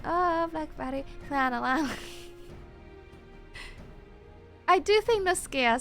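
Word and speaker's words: Noscea: used to be a ham South in Western lanosa wait it's called was called wait sorry sorry guys it's pronounced NOA it's pronounced like NOA wait why did no one tell me I've been seeing no SK the entire time for the last three months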